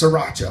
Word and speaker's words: sriracha: corrected me it's like you don't pronounce the first r it's sriracha i'm like okay okay